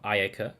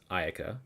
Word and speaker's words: Ayaka: Okay, so that's Ayaka, right? They say it wrong. It's not Ayaka, it's fucking Ayaka.